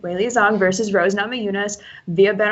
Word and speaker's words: Weili Zhang: Weili Zhang, I said it right. Weili Zhang versus Rose Namajunas.